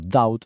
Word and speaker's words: doubt: Y esto además explica el misterio de por qué palabras como de, deuda o doubt, duda tienen una ve que no se pronuncia.